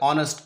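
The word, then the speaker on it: honest: produce कर रहा है ऑनेस्ट के केस में ये साइलेंट हो जाता है तो फिर वो ओबवियसली ऑनेस्ट अलिफ वाली साउंड प्रोड्यूस हो जाएगी एन आ जाएगा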